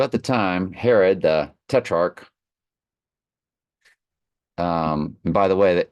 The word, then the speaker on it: tetrarch: tetar what in the world one more time tetrarch tetrarch let's go slow tetrarch tetrarch okay well basically the way it looks